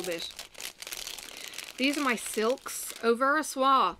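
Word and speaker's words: Au Ver à Soie: these are my silks over a soi i found is the actual pronunciation and if you knew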